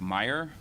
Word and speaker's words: Meyer: first from Deputy special agent in charge Derek Meyer it's uh pronounced Meyer it's spelled m ye R Derek is d